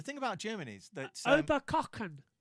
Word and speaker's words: Oberkochen: The thing about Germany is that Oberkochen. Ober, That's how you pronounce it. Oberkochen. I would think it was Koken.